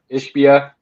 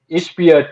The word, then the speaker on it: Ishbia: Ishbia. Can never say it right. It looks like Ishba, but whatever.